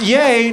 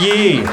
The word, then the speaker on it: Ye: now this show in pronounce yay not ye this guy leaked the